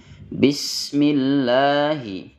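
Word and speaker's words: بسم: kukurnya Bismillahirrahmanirrahim kemudian Sin yang bersukun ketika diucapkan dia memiliki sifat Rah yang mengalir Bismi Bismi Jangan dibaca Bismi namun Bismillahi Bismillahi sinnya dibaca mengalir kemudian lafal Allah Arrahman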